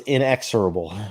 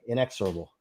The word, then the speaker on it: inexorable: to correct people but the word was in ex able it's okay so yeah let me spell that just so everybody's clear because it's a great word and feel free to look it up it's i n e ex o r a b e inexorable and matter of fact